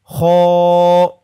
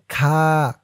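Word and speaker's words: خ: আমার সাথে বলুন হা অনেকেই কোরআন রিডিং পড়ে এরপরেও হার উচ্চারণটা করতে পারেন না। তাই আজকে শিখে নিন। হা তারপরেরটা খ দেখুন এমন মাথার উপরে এক নুক্তা থাকলে সেটা হবে খ অনেকে বলে খা।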